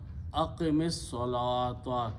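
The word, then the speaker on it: أقم الصلاة: So what he does, he changes this last letters to a zair, and he pronounces aqim as-salata, continuation of the word together.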